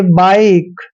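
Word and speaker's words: bike: पढ़ा इसको सीधा ही लेस पड़ा है जैसे बाइक बाइक में भी क्या है कि सबसे लास्ट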